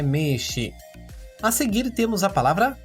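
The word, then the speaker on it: 名刺: Quanto à pronúncia da palavra meshi, também é um prolongamento do som do e da primeira sílaba me. No entanto, o hiragana usado na escrita é o i, mas a pronúncia é meshi.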